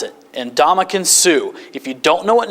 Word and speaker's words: Ndamukong Suh: Here's how you pronounce it. Ndamukong Suh.